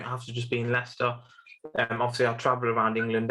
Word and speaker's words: Leicester: And if you just maybe can't reach Jeevan, well, he's in England and Leicester, right?